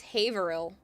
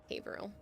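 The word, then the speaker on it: Haverhill: Um, but yeah, and it's also it's Haver Hill. It's Haveril for most people. You don't pronounce the full H. So, Haveril.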